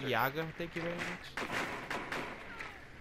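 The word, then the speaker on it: Jäger: It's pronounced Yaga, thank you very much.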